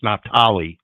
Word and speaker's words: Naphtali: That now I am pronouncing that wrong. I know I'm butchering. I was just going to say he's pronouncing that terribly wrong. It's Naphtali.